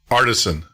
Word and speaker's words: Aartsen: My family name is pronounced Aartsen. So you're really very close. Aartsen. Okay, I got that. Aartsen.